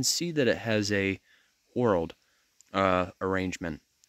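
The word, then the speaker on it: whorled: that it has a world uh arrangement not referring to world as in the planet but rather it's spelled w-h-o-r-l-e-d world so an analogy I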